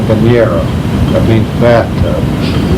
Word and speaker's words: Bañera: We bought Columbia 29 called Bañera. That means bathtub. How do you spell that?